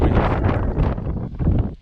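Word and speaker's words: Reeth: The town of Reef, just nestled in the hills. I love that. It's actually very unique. That's Reef. It's spelled R-E-E-T-H, like teeth, but with an R.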